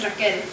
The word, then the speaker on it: Rachel: course to my dismay, they pronounce it the way it's spelled. You see, it's spelled R-A-C-H-E-L. Though my life I've known it to be said the same way as Raquel, R-A-Q-U-E-L.